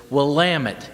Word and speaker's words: Willamette: The way you pronounce it is Willamette, damn it.